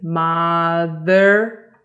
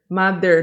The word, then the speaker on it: mother: Listen, mother, mother, mother. The th sound actually can be pronounced like this. Mother, mother. Look at this one. I don't go mother, right?